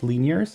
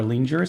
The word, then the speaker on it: Linjär: I think they're pronounced Linjärs. I think the J sounds like an E. Yes, those are Linjärs.